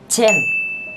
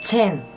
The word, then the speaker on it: Chen: Nhưng các bạn phải đọc chữ Chen này bật hơi một chút xíu sẽ ra là Chen. Chen.